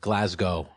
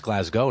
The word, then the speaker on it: Glasgow: We're here at CCW Europe in Glasgow. I think it's Glasgow, not Glasgow. Oh, yeah. Okay. Right? I've been saying it wrong.